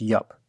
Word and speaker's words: IUP: I'll be talking about the library iup or yep today I learned last year at the Lua Workshop that it's pronounced yup old habits die hard so Sor in advance